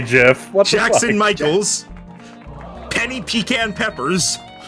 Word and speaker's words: GIF: our guests lord crowley guy who says gif with a soft g ray dark hold on that's me i say jeff jackson michaels penny pecan